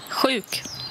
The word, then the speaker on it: sjuk: Chouk. Alors voilà, SJ se prononce Chouk.